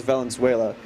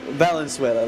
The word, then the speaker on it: Valenzuela: I was told it was Valenzuela. Kind of like Venezuela, but more Valenzuela.